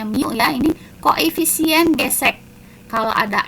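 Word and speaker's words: μ: gesek besarnya gimmes kita lihat ini apa Bu dibacanya Mia ini koefisien gesek kalau ada es berat ini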